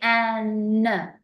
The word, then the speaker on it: an: Now, with the pronunciation, because it's a short word, you need to say an. It's like a n. So you can almost hear like there's a vibration in the sound of your voice.